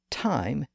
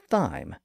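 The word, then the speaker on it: thyme: called time t h ym is pronounced th and not thy it's ultimately a Greek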